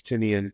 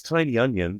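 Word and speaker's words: Tynion: like you know James tinian coming back uh Tian sorry I should use the correct pronunciation I think it is Tiny I I always say James tinan actually Jam it's tiny onion the company so maybe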